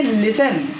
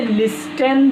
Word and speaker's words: listen: सुनना, सुनना की इंग्लिश होती है लिसन, LISTEN। आप इसे लिस्टन नहीं पढ़ेंगे, टी साइलेंट रहेगा। इस बात को आप एकदम गौर कर लीजिए कि इसे लिस्टन नहीं पढ़ेंगे बल्कि लिसन पढ़ेंगे, लिसन।